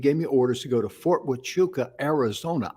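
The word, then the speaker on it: Huachuca: to go to fort wachuka arizona i couldn't even pronounce witchuka i didn't know you pronounced an h with a w right and i mean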